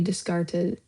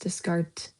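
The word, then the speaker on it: Descartes: by the French philosopher Renee Descarta Discartees but it's probably pronounced discart his theory called cartesian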